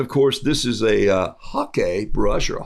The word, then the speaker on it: hake: course this is a hakee brush or a hockey brush for those of you people that play the game up there it's pronounced like the game and notice this is